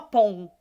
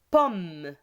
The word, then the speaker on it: pomme: il faut faire attention ici om on prononce pas on dit pas pompe ont dit paul bonnet pomme bonnet ici pompe pompe